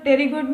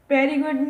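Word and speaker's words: pterygoid: Insertion of the medial टेरिगोइड muscles, टेरिगोइड बोलना है क्योंकि पी यहाँ पर साइलेंट है, पेरिगोइड नहीं बोलना है, टेरिगोइड बोलना है।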